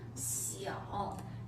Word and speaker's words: 小: 小。